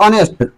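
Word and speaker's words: honest: क्योंकि इसका शुरुआत तो कॉन्सोनेंट से हो रही है, बट उच्चारण में एच साइलेंट हो रहा है और अ का उच्चारण निकल रहा है, ऑनेस्ट, तो इसीलिए इसके साथ एन का यूज करेंगे।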